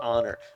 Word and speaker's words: honor: do honor like you it's it's honor you got to love the silent h and now drum which